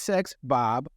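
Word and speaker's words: Sex Bob-omb: would be really weird it says sex Bob but the B the B on the end is silent right for bomb right yes so just want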